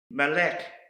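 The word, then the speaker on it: מלך: another Hebrew word that starts with mem is Malik and this is the word for King Malek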